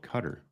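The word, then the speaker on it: Qatar: how to pronounce cutter as far as I know it is pronounced cutter that's what I've uh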